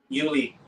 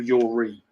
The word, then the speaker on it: Uli: I always say his name wrong, don't I? Is it how do you say Hoeneß's name? Uli. Uli. I always call him Yuri.